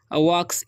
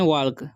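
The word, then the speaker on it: walk: wife नहीं पढ़ना है वाक्स इसे पढ़ते हम लोग वाक्स ठीक है देखिए एल कारण आप लोग पढ़ते हैं वाल्क वाल्क नहीं पढ़ना है एल साइलेंट है ठीक है तो इसे वक पढ़ते हैं यूपी इस अप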